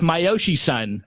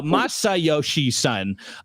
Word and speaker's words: Masayoshi Son: but the CEO uh how do you say this guy? It's myoshi son. No masayoshi son.